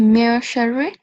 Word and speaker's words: min sharri: At those points, the noon has to be hidden. So you don't pronounce the sound of noon. Okay. So it will be mer sharri.